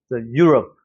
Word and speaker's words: Europe: 그런데 여기 같은 경우는 앞에는 강세가 있고 여기는 슈아 발음이니까 어떻게 해야 돼? 앞에는 세게 you. 그 다음에 뒤에는 love. Europe. Europe 하고 내려오는 거예요. 우리처럼 막 love 이렇게 발음하는 게 아니라는 거죠. Europe 이렇게 내려오는 발음.